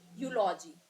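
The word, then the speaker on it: eulogy: Next word है यूलॉजी। देखिए इसमें ई जो है वो साइलेंट होता है, ई को हम नहीं पढ़ते हैं, यू से इसका प्रोनाउंसिएशन होता है। तो यूलॉजी, इसका मीनिंग क्या होगा?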